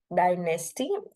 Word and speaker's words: dynasty: If it is three syllable, which syllables takes the prominent sound? It is dynasty. Dynasty, so dynasty is the second syllable would take the prominent sound. T would be very small, short. So it doesn't take neither the secondary stress nor the first. Di would be having the secondary.